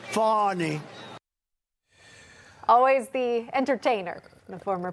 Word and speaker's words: Fani: It's spelled Fanny like your ass, right, Fanny? But when she became DA, she decided to add a little French, a little fancy. Fani.